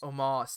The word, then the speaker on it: Omos: um how how do you how do you pronounce moss omos thank you that's what i was figuring i